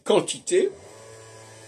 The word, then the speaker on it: quantité: pas quand je dis quantité bien u après le Q mais je prononce pas le U alors les Anglais vont